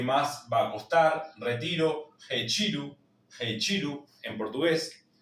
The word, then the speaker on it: retiro: La r al inicio que va a sonar fuerte. Re. En nosotros en español decimos re. En portugués va a ser con la h. Recuerden g. La t con la i se va a leer chi y la o final como uchiru.